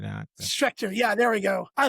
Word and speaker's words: Schecter: But it was I'm going to say the name wrong, but it was a Schrecter, I think is what it was. I might say it right. I don't know. Okay, yeah. I think it's pronounced Schecter or something like that.